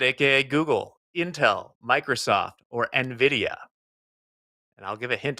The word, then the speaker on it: Nvidia: gonna say something that until recently I mispronounced that for months I just could not get around it I would say Nvidia it's Nvidia uh Diaz jackn biibs